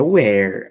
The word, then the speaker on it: where: Veja, aqui é where a pronúncia, e aqui é were. Aqui é com H, e aqui é sem o H.